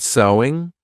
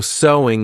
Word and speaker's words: sewing: Because of course the pronunciation is the same as sew. There's no sewing, though adding an ing. So sewing is the activity, but the pronunciation is the same as the word.